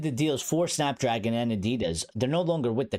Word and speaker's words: Adidas: people at Snapdragon and Adidas, or Adidas, as the Europeans like to pronounce it, yeah, we might lose those deals.